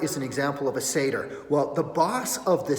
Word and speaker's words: satyr: And I'm like, satyr, satyr. It's satyr. Now we know, satyr.